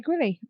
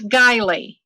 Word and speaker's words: Guiley: got it wrong uh can you pronounce it for us please it's gilee Rosemary Ellen giley right